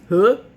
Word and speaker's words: hooah: unit from the Army, it's not hoo-ah, it's huh. It's just, it doesn't even sound anything like hoo-ah. I think it's still spelled the same way, but it's huh.